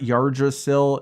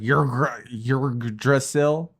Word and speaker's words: Yggdrasil: It's like it's not Yggdrasil, it's like Yggdrasil. But that YGG is really hard for a English speaking person to enunciate.